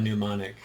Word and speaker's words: mnemonic: word demonic because it's an impossible word to pronounce if you look at it but todd i skipped the m i just got mnemonic yeah and then it